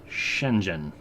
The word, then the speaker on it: Shenzhen: system for Mandarin Chinese so let me just give you a little shortcut say Shenzhen okay I've been saying it